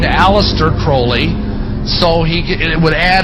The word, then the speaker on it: Crowley: litter crawley he likes to have his name pronounced Crowley to rhyme with bullies and the statements today